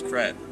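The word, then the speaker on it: crêpe: Well, the pronunciation is crepe, but Emily in Paris says create.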